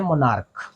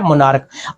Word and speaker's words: monarch: इसको आप जो प्रोनाउंस करोगे तो ये CH कै बन जाएगा। ये जो आपके पास शब्द है ये है मोनार्क। ये क्या है, मोनार्क।